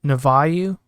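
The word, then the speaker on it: Nouveau: Sure, it comes with Navayu, I think is how you pronounce it.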